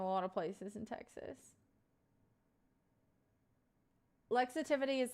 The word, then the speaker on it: Lexitivity: It's like Lexi and then positivity. So lexitivity. That's how you would pronounce it. Some people say like lexivity, but that's not it.